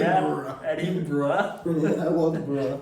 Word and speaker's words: Edinburgh: This is how they say it. Edinburgh.